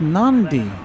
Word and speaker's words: Nadi: Says Nadi is pronounced Nandi. Now, I've heard it both ways and I appreciate that.